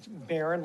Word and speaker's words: Barron: is that correct that's correct okay how do you say your last name Baron like the Red Baron okay all right so